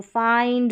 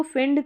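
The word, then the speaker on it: find: अब इसको फिंड करके, विल्ड करके, बिंड करके, मिंड या चिल्ड ऐसे नहीं पढ़ते हैं, आई का साउंड आई करके होता है।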